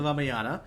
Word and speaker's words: Ramayana: copy my annotated version Let me just correct you on that uh actually pronunciation yeah so the one you heard about was called the raaya the ramayana mhm so this is